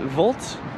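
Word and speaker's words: Wolt: for uh I think they pronounce it volt uh not Waltz but volt uh that's like a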